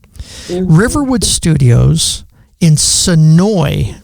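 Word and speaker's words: Senoia: Riverwood Studios in Sonoy, right? I'm right about that, right? Sonoy. Yeah. So it's pronounced, it's spelled Sonoya, but you cannot say the A for some reason there.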